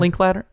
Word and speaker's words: Linklater: Linklater?